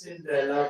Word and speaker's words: Cinderella: It's Cinderella with a stress on the third syllable.